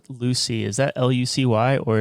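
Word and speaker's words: Lucea: our listeners you said Lucy is that Lu uy or is there a different spelling to that yeah it's spelled Lu U CA and it's pronounced Lucy okay and that's where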